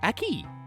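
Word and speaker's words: aquí: looks like a key let's use the key a key A Q UI acute Accent on the I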